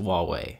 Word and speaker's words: Huawei: changing here very soon their name looks like Hawaii but I can assure you it's pronounced Huawei just throwing that out